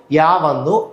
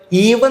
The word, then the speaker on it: ewe: EWE correct pronunciation എന്താണ്? യൂവ് എന്നാണ് കേട്ടോ. യൂവ് എന്നാണ്. ഫീമെയിൽ ഷീപ്പാണ്, പെണ്ണാണ്. അപ്പൊ ഈവ് നല്ല പ്രൊനൗൺസ് ചെയ്യേണ്ടത് യൂവാണ്.